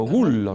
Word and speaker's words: Gullo: pronunciaba No es cierto como el apellido se pronuncia originariamente en italiano y así se pronunció siempre en Rosario gullo No es cierto eh la doble l en italiano es una l fuerte No es cierto larga eh Y qué pasó pasó